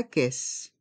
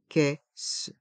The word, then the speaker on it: caisse: le tapis roulant la caisse la caisse les voyelles a et i se prononcent e la caisse et les deux s